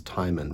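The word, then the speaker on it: Timon: oel timman of Athens I think it's tyman right like Ty in rhymes with Simon well even there he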